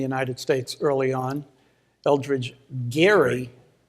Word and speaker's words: Gerry: States early on Eldridge Geary who pronounced his name with a hard G it became known as